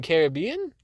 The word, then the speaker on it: Caribbean: Where today I will be reviewing Pirates of the Caribbean on Strangers. Ew. Excuse me? Why? What? Why would you say it like this? Pirates of the Caribbean? Okay. Well, it's supposed to be pronounced Caribbean.